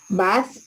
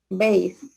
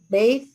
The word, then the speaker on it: bathe: Bath, the dog. Clean out. Bathe. Bathe, the dog.